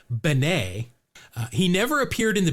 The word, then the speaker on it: Bene: I'm guessing a lot of our listeners know the two Billy Beans that we are thinking of, but no, his last name is pronounced Benet.